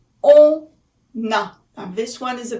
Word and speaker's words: on a: So on a, it's as if it were a one word, because a is just a vowel and on ends with n. So we make a liaison. All right? It's like a word that is connected together.